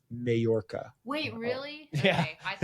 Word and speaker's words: Majorca: I said she went to Majorca, and I have a Scottish friend who was like, it's Majorca.